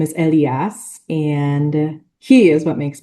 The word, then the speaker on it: Elias: And so in English it's Elias, but in Spanish it's Elias. And I'm learning Spanish, but it's funny that I'm the one who's like, it's not Elias, it's Elias. He is 3.5, and he